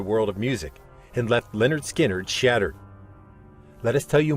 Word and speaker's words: Lynyrd Skynyrd: 1973 with the release of their debut album pronounced Leonard skinnard which featured the iconic Anthem Freebird with its